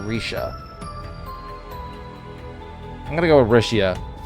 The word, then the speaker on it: Rixia: I think it's Rixia. Trying to remember the pronunciation, because I assume it's a Chinese pronunciation. X is a sh sound, so Rixia. Or Risha.